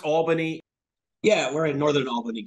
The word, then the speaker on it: Albany: a town spelled the same way and it's Al bany so I had to clear that one up